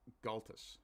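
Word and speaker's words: Gaultois: to be fair uh while this may be pronounced in French in Newfoundland we bastardize the hell out of things because well the English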